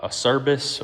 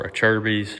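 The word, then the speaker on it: Acerbis: um we've went with the uh aerus or a Cher's depending on how you like to pronounce it plastic skid plate I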